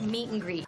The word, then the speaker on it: meet and greet: Notice how I pronounced "an." When you have "an" between two nouns or two verbs, you can pronounce it just as meet and greet. You can absolutely say meet and greet, but that's not how